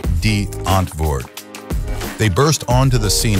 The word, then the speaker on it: Die Antwoord: We hit the number three spot on our countdown, featuring the one-of-a-kind alternative hip-hop group, Die Antwoord, pronounced D-Antwoord.